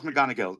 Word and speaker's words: McGonigal: How do you Charles spell it? McGonigal? Yeah, so Charles McGonigal, McGonigal, Charles McGonigal.